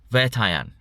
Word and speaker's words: Vettaiyan: Let's see how do we pronounce it? Because I did look it up. Vettaiyan.